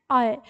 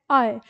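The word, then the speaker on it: ऐ: हमारे दोनों स्वर हैं इनका उच्चारण समान नहीं है दोनों में अंतर होता है इसको कहते हैं हम ए और इसको कहते हैं आय दोनों के उच्चारण में अंतर है ये है ए ये है आय ये ओ और ये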